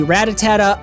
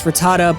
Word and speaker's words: Rattata: I know it's Rattata, but for some reason as a kid, I added that extra syllable, and to this day, a grown adult man, I still don't read it right and still call him Rattata, so just bear with me for this story.